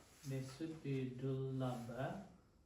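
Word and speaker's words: dullabha puggala: I think it's my pronounce again. This is writing it. wrong. This should be dula pala.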